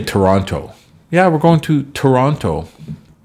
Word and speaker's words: Toronto: kind of like a CH Toronto I say Toronto so it's like a you could say Toronto